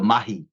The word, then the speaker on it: mahi: Zealand we say you got to do the mahi mahi is the Mii word the indigenous people